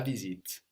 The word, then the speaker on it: visite: the visit is la visite. La visite. La visite. And that's spelled visite. We notice that the S sounds like a Z here, like in English.